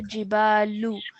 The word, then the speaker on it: الجبال: So it's a lam with a dhamma at the end. Okay, so jibalu.